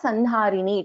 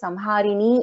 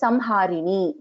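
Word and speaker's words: संहारिणी: It's not Sanharini, it is Samharini only, because it is not fully ma also, it is not na also. It's Samharini.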